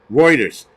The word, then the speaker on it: Reuters: have whatever but um pronounce roters now everybody's now everybody's an English scolar it's called Reuters stupid but whatever um